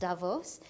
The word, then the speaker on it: Davos: my first trip to Davos I've understood it's pronounced Davos and I've heard so much about this and